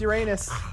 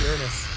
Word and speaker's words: Uranus: It's not pronounced Uranus, even though it's spelled that way. It's pronounced Uranus.